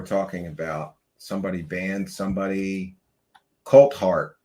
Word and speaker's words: Coulthart: Coltart. Yes, his name is Coltart.